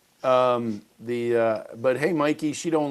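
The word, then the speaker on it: Mikie: And even Governor Mickey, is that how we say her name? New Jersey. Mikey. Hey Mikey. She likes like remember life cereal. He likes it. Hey Mikey, that's how you remember.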